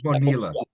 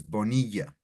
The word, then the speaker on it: Bonilla: In English, they would call it Bonilla. In English, they would call it Bonilla, but in Spanish is Bonilla, right?